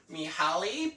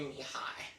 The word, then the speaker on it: Mihai: Now, because in the previous video I pronounced it as Mihaly, but it's actually Mihai.